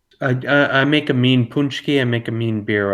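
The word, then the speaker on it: paczki: spell it you're from they might pronounce it like epoxy probably yeah because it's spelled like p a c z k i but it's like pronounced punchy and it's like um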